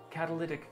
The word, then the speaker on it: catalytic: Cadillac this converter. Is pronounced as catalytic converter.